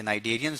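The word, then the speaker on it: Cnidarian: एन नाइटे ठीक है सी जो है वो इसमें साइलेंट है तो नाइजेरिया हो गए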